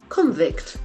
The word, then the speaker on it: convict: Convict, there are only two syllables. Someone who is in prison because they are guilty of a crime. If it is a verb, the accent falls on the second syllable.